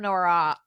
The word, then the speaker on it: noir: Like film noir.